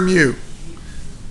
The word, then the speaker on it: mu: use to represent the coefficient of friction its mute this is a Greek letter mu here's how you remember how to say it's pronounced mute okay now American cats in America